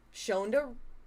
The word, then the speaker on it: Shonda: were all produced by Shondaa Shonda Rimes. Shondaa Rhymes. Shondaa. Shondaa Rhymes. I should get better at reading things. Oh, so should I. It's tough. Uh, Shondaanda rhymes with Honda.